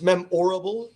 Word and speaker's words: memorable: Also, you pronounce the word memorable, like a marble. So it's memorable, right?